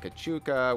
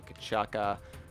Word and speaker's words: Kuchuka: everything uh why why am I pronouncing it kachuka when it's chucking the bombs it should be kachaka uh you're right it